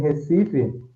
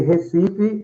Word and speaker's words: Recife: For example, I can say that in Recife, yeah, they have Hmm. more opened vowel. Yeah. So I say Recife and they say Recife.